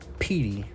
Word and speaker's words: Pete: So this is Petunia, also known as Petey, written P-E-T-E, but pronounced Petey.